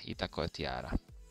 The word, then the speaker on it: Itacoatiara: Mi pronunciava Itacoatiara. Itacoatiara.